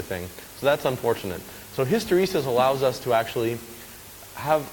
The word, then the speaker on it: hysteresis: I've seen it what history says someone pronounced it wrong but you're all right it's hysteresis and all that really